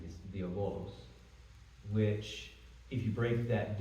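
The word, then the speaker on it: διάβολος: I would pronounce it with modern Greek is diabolos, which, if you break that down, basically just means division.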